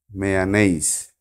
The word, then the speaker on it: mayonnaise: that is you have to give pressure here mayonnaise but in USA the primary trace on the